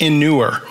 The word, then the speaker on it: inure: to really like, and it's pronounced inure.